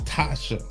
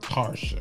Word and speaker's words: Tasha: It's Tasha, not Tarsha. I know, but I know her. That's how you say her name.